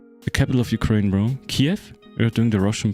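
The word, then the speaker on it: Kyiv: Kiev? We're doing the Russian pronunciation. It's Kiev.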